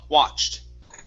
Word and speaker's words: watched: the word watched okay open up the mouth instead of watched it's ah watched watched there you go that's